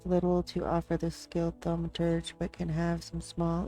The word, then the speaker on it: thaumaturge: First of all, to make sure I'm saying that right. Thaumaturge. So that is a performer. So it's thaumaturge. Thaumaturge. I've been saying it wrong.